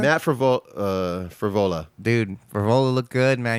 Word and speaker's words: Frevola: Matt Frevola.